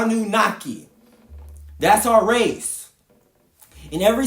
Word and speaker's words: Anunnaki: That is spelled A N U N A K I.